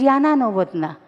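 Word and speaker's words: Jana Novotná: It is spelled as Z, but it is pronounced as Y. Jana Novotna, it is Yana Novotna.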